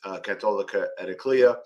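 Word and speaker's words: Cattolica Eraclea: It's called, let me just make sure I pronounce this correctly, Catolica Ediclea.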